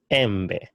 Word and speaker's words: embe: The vowel E is pronounced as E. Elephant, embe, embe. For example, the word bed, elephant, embe, which is a mango.